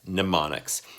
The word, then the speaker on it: mnemonics: one which is mnemonics a really really weird spelling has an M in there but it's pronounced mnemonics now there's four kinds